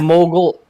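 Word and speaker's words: Mughal: It was the Mogul Empire. N U G H A L. The Mogul. It's pronounced Miguel. No, that's not how it's pronounced. The mogul.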